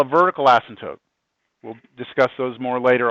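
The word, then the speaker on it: asymptote: say it I mean the p is silent asmt to yeah if you say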